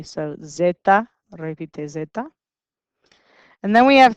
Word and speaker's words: zeta: kind of depends repeat and this guy is zeta and he is pronounced like a z so zeta repeats and then we have three sounds that